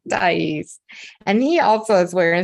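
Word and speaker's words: Deise: said her name wrong he called her thighs not dice and he also is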